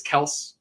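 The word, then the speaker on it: Kelce: but apparently Jalen waddle is not how you pronounce his name it just like apparently we've been saying Travis Kelsey and it's Travis Kels I'm not go I'm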